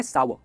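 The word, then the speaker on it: sour: सार, जैसे हॉट एंड सार सूप नहीं, इसे कहते हैं सावर, हॉट एंड सावर सूप, right? सावर।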